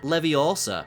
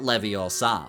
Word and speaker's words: Leviosa: It's pronounced leviosa, not leviosa.